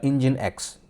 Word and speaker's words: Nginx: And container three is a engine X or in writing it's it it's written as NG INX but in pronunciation it is called engine X.